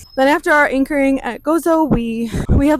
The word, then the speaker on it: Gozo: You say it like Gozo.